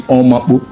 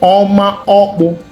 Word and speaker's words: Oma Okpu: Sometimes they mispronounce it and say it's Omapu. No, it's Oma Okpu.